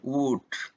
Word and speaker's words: would: Ini yang juga sering salah, would, ya, could. Jadi saat huruf L itu diletakkan atau berada setelah huruf A, O, dan U, dia jarang sekali diucapkan.